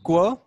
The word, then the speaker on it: क्व: Kva aham. Yes. So it's qua with a short a Okay.